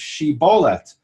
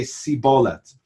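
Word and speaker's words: שיבולת: to get back home you have to say the words she bolete and the ephraim i'ts can't pronounce that literally to save their lives they say SIBO let's and then the and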